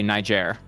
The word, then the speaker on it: Niger: say Niger you don't you don't say it with a hard G grle um you pronounce it like it's an airline you say Niger MH okay that's fair